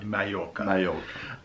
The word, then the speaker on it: Mallorca: So you've got like Ibiza, Menorca, and Mallorca, which is spelt Mallorca. Mallorca. But obviously in Spanish it's Mallorca.